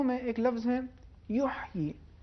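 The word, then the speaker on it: يحيى: آیت نمبر 9 میں ایک لفظ ہے یحیی، اس میں حرف ہا، اس کا عربی میں ایک خاص تلفظ ہے جو وسط حلق سے ادا ہوتا ہے.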